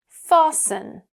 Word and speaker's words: fasten: usually silent in words like fasten Yeah.